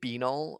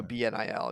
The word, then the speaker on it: BNIL: Is it Benil or BNIL? I tend to go BNIL because Benil sounds like a gas medicine or something.